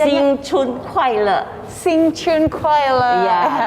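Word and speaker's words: 新春快乐: Kalau dalam bahasa Cina-nya gimana sih Bu bacanya? Xing Chun Kuai Le.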